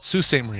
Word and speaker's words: Sault Ste. Marie: I pronounced it wrong. Sault Ste. Marie, and thanks to the...